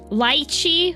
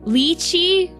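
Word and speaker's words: lychee: Lichi. Lii. Guess what? Both of them are valid pronunciations in the English language.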